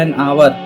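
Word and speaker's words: hour: Next example है एन आवर। आवर्त में एस साइलेंट रहता है।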